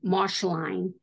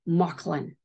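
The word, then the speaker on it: Mauchline: it's spelled m-a-u c-h-l-i-n Marsh line but it's pronounced mucklin and uh maklin is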